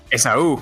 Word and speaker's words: Esaú: Esaú, con acento en la U.